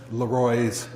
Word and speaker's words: Laroy: is similar to Leonora the accents on the second syllable the spelling of Laroy